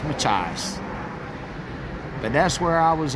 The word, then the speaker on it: Machias: I know it's not Machias. And he says it's Machias. Machias. He said it's something to do like an Indian name.